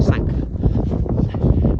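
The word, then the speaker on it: Sanquhar: Don't know if you can see that already, but that down there is town Sanka, which is spelled Squa something, but anyway, apparently they call it Sanka.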